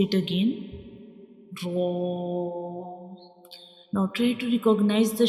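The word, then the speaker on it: ر: When we pronounce ra, the sound fills into the mouth like ra. It's a heavy letters, and we read it with heavy sound like ra, ra.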